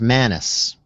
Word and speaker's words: Manis: Let me just help you with the pronunciation. It's just Manis.